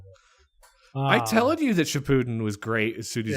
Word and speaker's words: Shippuden: So I started Shippuden.